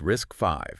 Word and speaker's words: RISC-V: And just to be clear for everyone, it's pronounced risk five.